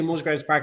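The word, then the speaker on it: Musgrave Park: It's actually Musgra Park, not to Oh, is it?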